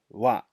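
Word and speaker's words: は: a hill Agana chart this symbol here you will see written as ha however in this context that we're going to talk about it's pronounced as Wow so when when to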